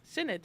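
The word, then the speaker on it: synod: Um what is the general's How do I pronounce this? Sinod snod. I'm looking at the website. Sinned.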